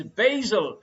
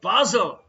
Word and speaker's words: Basel: into france and germany the correct answer is basil or basel if you are a fan